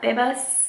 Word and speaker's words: Bebas: Bebas, that's how you say it, is a cool one too.